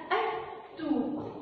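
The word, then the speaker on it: التوت: نحط لها ألف ولام في أول الكلمة هتبقى أ توت. أ توت. سمعت صوت اللام؟ سمعناهوش عشان التاء من أصحاب الشمس ما خلتنيش أسمع صوت اللام هتبقى لام شمسية.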